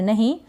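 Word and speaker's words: know: Next है KN, KN को हम न पढ़ेंगे, यानी के का यहाँ पर उच्चारण नहीं होगा, इसके बाद N है ना, उसका उच्चारण होगा N, N का न मतलब।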